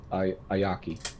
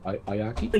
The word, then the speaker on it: Ayaki: where I last saw Ayaki. I I am I apologize if I pronounced that wrong. Ayaki, you actually pronounced it correctly.